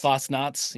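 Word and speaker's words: Fastnacht: as a salute to Lehigh Valley is uh Fasnot. The the Fosnuts. Fasnuts.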